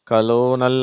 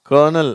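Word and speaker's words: colonel: இந்த வார்த்தையில் ஆரே இல்லை, இருந்தாலும் அந்த உச்சரிப்பு. இது கலோனல் அப்படின்லாம் படிக்கிறாங்க, அது தப்பு. இது கர்னல், அதுதான் கரெக்டு.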